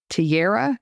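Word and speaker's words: Tejra: e j r a now in Swedish the J is a y so I'm gonna say Tara T Tiara yes I'm that's how I'm gonna say it Alex I'm so sorry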